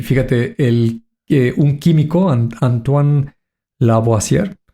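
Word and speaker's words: Antoine Lavoisier: Y fíjate, el un químico Antoan Laboier, que así se pronuncia, 1787 descubre el elemento químico, el el silicio.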